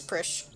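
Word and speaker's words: Prishe: It rhymes with fish, so I am pronouncing it properly. It is Prish.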